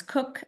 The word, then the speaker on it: Coke: He studied the law on the books, which was more common law as in England, Kent, Blackstone, Coke, which we pronounce Cook, actually, and the old simple